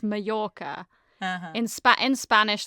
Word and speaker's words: Mallorca: Is it Majorca or Mallorca? It's it's Majorca, but yeah, it's a joke that a lot of English people pronounce it Mallorca, but in Spanish if it's two L's, it's a J.